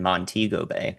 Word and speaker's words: Montego Bay: So on the north side in particular in Montego Bay which is how you pronounce that uh the storm surge will impact